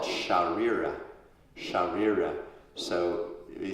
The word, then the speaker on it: Śarīra: So the body is called Śarīra.